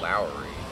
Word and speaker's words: Lowery: NFL kicker Nick Lowery it's pronounced Lowery yeah I don't really